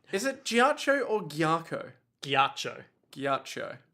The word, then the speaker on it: ghiaccio: Oh, there was also a bit with Giaccio ranting, like, it's Is it- not fair, Polpo gets the money. Is it Giaccio or Giaco? Giaccio, Giaccio. because it's a double C, like Bucciarati.